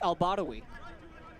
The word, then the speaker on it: Al-Badawi: He told us it's Al-Badawi.